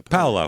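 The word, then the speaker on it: Paolo: Yeah, Paulo.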